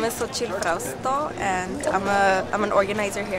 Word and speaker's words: Solchi Frausto: Solchi Frausto.